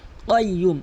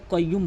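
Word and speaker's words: الْقَيُّومُ: আল হাইয়ুল, আল হাইয়ুল কয়ুম। এখানে কয়ুম বলবেন না, কাফের উচ্চারণ করবেন। এখানে কফের উচ্চারণ কয়ুম, ভিতর থেকে ধাক্কা দিয়ে জিহ্বার গোড়া উপরে তালু থেকে কয়ুম, কয়ুম প্র্যাকটিস করবেন।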